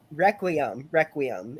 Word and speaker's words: Requiem: John said it's Requiem is how it's pronounced.